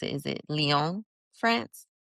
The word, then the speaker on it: Lyon: And you also had experience of living abroad in, how do you pronounce it? Is it Lyon, France? Lyon, yes, in Lyon.